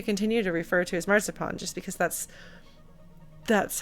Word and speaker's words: Marzipan: than one R until I heard my mom say the word marzipan, and I was like, oh, the difference between your pronunciation and mine is the R.